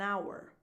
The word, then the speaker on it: hour: Our flight is in an hour. Now, hour with a silent H is fully defined, hour, in an hour.